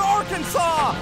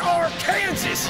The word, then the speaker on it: Arkansas: Send them back to Arkansas! It's pronounced Arkansas, you idiot!